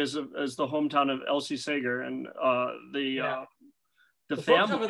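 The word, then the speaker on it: Segar: and I found out the pronunciation is actually Sager rather than Seeger or cigar even though he has a little cigar there but the family said that it's always been Saker and always been pronounced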